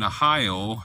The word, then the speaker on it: Ahio: And Ahio, so it looks almost like my home state, Ohio. Ahio, which is spelled with an A.